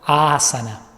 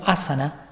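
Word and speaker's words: āsana: aclarar que el término asana se castellanizó muchísimo por lo tanto es común escuchar que alguien diga a sana o asada como si tuviera un tilde un acento en la primera y en lo personal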